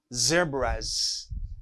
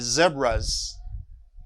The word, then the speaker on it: zebras: choice okay schweiz like zebras i don't see the brass i said zebras because zebra terminates by a vowel sound the same for choi